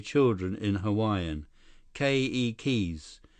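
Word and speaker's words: keiki: say children in Hawaiian ke keys with the accent on the first syllable okay Lee k k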